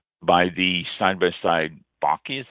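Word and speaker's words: bocce: the side by side bakis that's how it's pronounced v-o-c-c-e bucky ball cords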